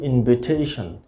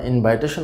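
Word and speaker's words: invitation: ইনভাইটেশন, তো আসলে ইনভাইটেশন শব্দটির সঠিক উচ্চারণ হবে ইনভিটেশন। ইনভিটেশন, তাহলে আমরা ইনভাইটেশন বলবো না, আমরা বলবো ইনভিটেশন। ইনভিটেশন।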